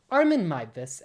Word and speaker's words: Armin Meiwes: a year or two I was calling him Armen Muse instead of Armen Mus, which is how you actually pronounce it.